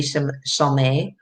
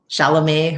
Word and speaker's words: Chalamet: it you know she loves the actor timothy charlemay chalamet or we even say his name he's he's